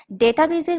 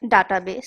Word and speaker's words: database: অনেক সময় দেখা যায় যে ডাটাবেস বা ডেটাবেজের মধ্যে মিশ্রণ ঘটাতে পারি, সেই জন্য আমি ক্ষমা চেয়ে নিচ্ছি। কারণ আপনারা অনেকেই জানবেন ইংরেজিতে সঠিক প্রোনাউন্সিয়েশন আমরা দেখতে পাই ডেটাবেজ, কিন্তু বাংলা টেক্সট বুকে লেখা আছে ডাটাবেস।